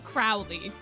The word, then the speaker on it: Crowley: But Crowley is said specifically, I think, to point out the fact that he's a crow, because I think you are supposed to pronounce that name Crowley. Like Aleister Crowley.